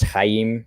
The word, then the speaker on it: Chaim: So like Chaim is spelled with 2 yods in order to let you know it's Chaim, right? Versus Ayin. And versus 1 yod, you only need 1 yod in order to spell Chaim, but they spell it with 2 yods to help facilitate how you're supposed to say it.